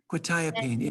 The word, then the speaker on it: quetiapine: Is it Quetiapine? thiopine? Quetiapine, yeah.